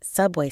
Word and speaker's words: subway: Emily repeated subway stop, careful to pronounce the A in subway as a long A sound, not the A sound she was tempted to use.